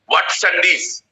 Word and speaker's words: Watsandish: তোমার এক ধরনের পাশ্চাত্য পুরাণেরই, এদের এরা আদিবাসী গোছে নাকি, এদের নাম হচ্ছে ওয়াটসান্ডিস। WATSANDISH বললে যে উচ্চারণ হয়, ওয়াটসান্ডিস।